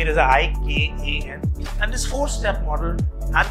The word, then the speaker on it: IKAN: If you pronounce it, it sounds like I can. It's a very positive way to look at, you know, I can, but we do not say it as ICAN.